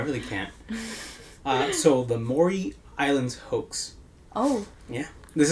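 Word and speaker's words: Maury: person who says that no Mory really where's the o and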